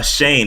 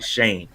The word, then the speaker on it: Schoen: assumptions so Joe uh Shane is how you pronounce his last name it's actually Shane uh director of player